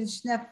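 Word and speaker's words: Schnepf: Is that how you pronounce it, Schneff? Schneff Farms, yep.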